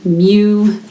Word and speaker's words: mu: random variable X and this Greek letter that looks kind of like you but it's pronounced mu is used to represent